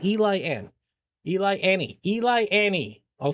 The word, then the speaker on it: Eliane: I keep saying Ellie. It's Eli Ann.